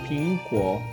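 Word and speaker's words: 苹果: manzana esto es porque en chino la palabra manzana se dice PINGGUO y la palabra paz en chino se dice PING como pueden ver la fonética es la misma entonces es un juego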